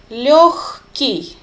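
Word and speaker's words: лёгкий: easy to jolly lucky please note how I pronounce this word lucky instead of girl we say her low-key and normally it means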